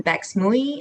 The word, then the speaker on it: Bex Mui: Also, just for folks listening, Bex Mui is how you say my name, she and her pronouns.